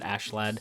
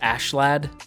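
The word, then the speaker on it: Askeladd: how you pronounce it, Ashlad. It looks like Askalad, but they pronounce it Ashlad, so I don't know. I'm gonna say Ashlad for this week's episode.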